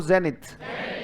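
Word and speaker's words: zenith: इसके उल्टे देखो, बोलो जेनिथ. स्पेलिंग याद करोगे? जे कैसे पढ़ोगे? नी कैसे पढ़ोगे? और यहां देखो थ को कैसे बताया गया? टीएच से, है ना? थ पे ध्यान दिया. थ कैसे बताया?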